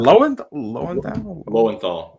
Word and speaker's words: Yuri Lowenthal: I can't pronounce his last name. Let's go. Is it Lowenthal?